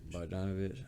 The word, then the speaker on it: Bogdanovich: You got, but I can't pronounce this man's name, or him, or the one from Atlanta. Bogdanovich.